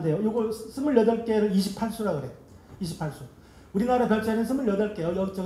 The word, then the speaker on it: 28수: 근데 28수 할 때 숫자가 숙박할 때 그 숙자예요. 묵을 머무를 숙자인가? 뭐뭐 숙자인가? 근데 그게 별자리로 읽을 때는 수라고 읽어야 돼. 이거 28수 그러면 저 망신당해요.